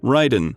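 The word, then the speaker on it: Raiden: The colonel pronounced the name as Ryden with a long I.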